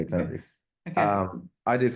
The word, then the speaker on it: Tenerife: So Tenerife, that was a good pronunciation. Okay, okay, okay, I got that Um, one. Tenerife, the Spanish people would say Tenerife, if you want Yeah, to be oh geez, particular, but yeah, no, yeah.